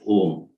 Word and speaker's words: om: on the omkara principle the om is made up of three syllables the represents the left